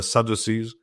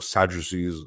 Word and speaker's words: Sadducees: they sort of dissipate the Sadducees or Sadducees it's often pronounced they were in charge